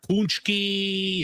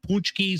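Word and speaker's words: pączki: Well, it's you could ask 10 different people, but Punchki, uh, PKI, I mean, I've always called them punchks. I've heard like punchkys or punchkys.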